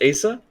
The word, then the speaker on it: Asa: by the name of Asa Butterfield. Which it amazes me that he's at all famous. It's not pronounced Asa. No, it's Asa. It's Asa Butterfield.